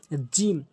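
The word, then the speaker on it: ج: এভাবে নরমালি উচ্চারণ করবেন এরপরে আসুন জিম জিম জিহ্বার মাঝখানের অংশটা জিহ্বার মাঝখানের অংশটা ভালো করে বুঝবেন কি বলছি জিহ্বার মাঝখানের অংশটা উপরের তালুর সঙ্গে লাগাবেন জিম জিম জিম জিম এভাবে উচ্চারণ করবেন জিম জিম এরপরে আসুন হা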